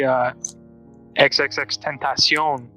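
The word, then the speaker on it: XXXTentacion: It's like, I would say XXX Tentacion. That's how you pronounce it, by the way.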